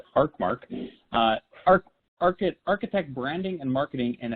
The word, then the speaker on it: Arcmark: His name is Bryon McCartney, and he is a managing partner and the chief idea guy at Arcmark, pronounced Arcmark, architect branding and marketing in Estero, Florida.